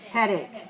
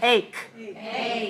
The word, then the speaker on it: headache: she has a headache headache okay let's say this word head eight notice the spelling is a-c-h-e but the pronunciation is like the letter K so say hey hey headache headache headache okay what